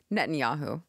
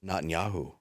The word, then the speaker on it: Netanyahu: them Nisa aou how do you say that Netanyahu Nan yahu Netanyahu Nan yahu n just Nan yahu net